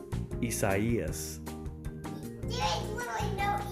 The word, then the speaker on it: Isaias: okay here we go isaiah isaiah what if i told you it was spanish would that help no no no not at all all right so both of you the correct pronunciation is isaias there is literally no